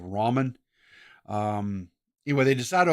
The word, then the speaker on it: ramen: pronunciation of it but I always called it Raymond but I think the actual proper one's called Ramen um anyway they decid to open up a restaurant Ramen a ra Ramen a noodle shop uh